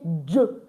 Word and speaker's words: je: So you know when you want to say my name is or I am you don't say J. You say Ju I am my name is.